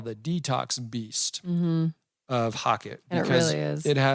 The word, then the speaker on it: HOCATT: So I came across this machine, and it's called the Hocket. And that is spelled HOCATT, and it stands for, brace yourself, hyperthermic ozone carbonic acid transdermal therapy.